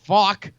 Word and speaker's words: FAK: Fake coin, or FAK, pronounced FOC, is a totally real